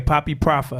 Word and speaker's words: Papi Profa: the studio I was like puppy proper okay poppy proper you know I'm a country boy song you